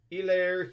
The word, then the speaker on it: Hilaire: clyde edwards hilaire i i know the h is silent i keep doing that elaire hilaire it's hilarious all right